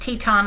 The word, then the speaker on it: Teton: Waters ranch brand and that's pronounced Teton like the Grand Tetons in Montana yes indeed